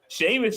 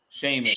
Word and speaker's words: Sheamus: Sheamus. Sheamus. I think they added a H to his name so America say Americans can say it right. Cuz Sheamus in in like Ireland ain't spelled like that.